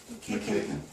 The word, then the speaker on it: McEachan: Nice to You meet can do the pronunciation. McEachan. McEachan.